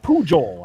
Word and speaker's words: Pujol: news at nine uh pujol i believe is how you say his name p-u-j-o-l rooster is jealous